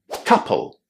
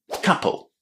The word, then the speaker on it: couple: So this word is pronounced as couple. Pronouncing the letters o u as a short a is not very common in English but it's definitely worth paying attention to because many basic words contain this pronunciation.